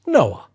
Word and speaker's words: NOA: His view is what he calls the "Natural Ontological Attitude," N. O. A. which he pronounces Noah.